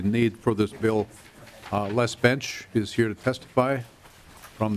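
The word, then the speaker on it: Bensch: Bench, Bench B-E-N-S-C-H. Like Johnny? Like Johnny Bench? Nope. Oh. He's my illegitimate brother. Okay, so, not the spelling I was referring to. Yes, German pronunciation and spelling, B-E-N-S-C-H.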